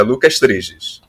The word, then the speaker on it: Lucas Triges: Eu não sei pronunciar o seu nome até hoje. Exato, é Lucas Triges.